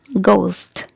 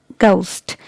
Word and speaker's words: ghost: pronounce it like vegetables okay another word is ghost ghost so here letter each is silent so it's ghost ghost now this is